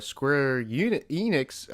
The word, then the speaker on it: Square Enix: So, excuse me for that, but Josh is here from Nerdvana, covering it with me again, and we're talking about the Square Enix.